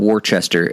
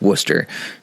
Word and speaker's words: Worcester: church in worcester massachusetts that's not worchester it's worcester now that i'm in